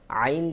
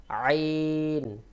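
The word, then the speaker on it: عين: আইন নুন কাফ আইন আইন যখন পড়বেন একটু চাপ দিয়ে বেশি করে উচ্চারণ করে পড়বেন তাহলে আইনের সহি উচ্চারণ হয়ে যাবে আইন নুন আইন নুন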